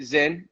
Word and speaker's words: Czinn: Is it Czinn? Am I pronouncing it Yeah. right? The C's silent, All exactly.